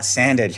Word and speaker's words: Sandage: Scott Sandage, hey professor, it rhymes with bandage.